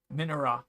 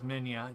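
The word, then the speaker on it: Minilla: as far as monsters, has obviously Godzilla and Minera, who I've been mispronouncing as Minya. It's well, that is an alternate. That is one of his alternate names. People call him Godzilla Junior. Minera, Manila. Minya is what I always called him.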